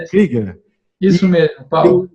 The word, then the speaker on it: Krüger: Krüger, está correto? Do alemão Krieger. Krieger, que é o tremado aqui, Krieger.